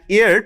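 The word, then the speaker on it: heir: কারণে যে এইচ এর উচ্চারণ উজ্জ থেকে তার উচ্চারণটা ভাওলের মত হয়েছে তাই তার পূর্বে এন বসেছে। তাহলে আমরা যদি বলি এয়ার টু হার প্রপার্টি।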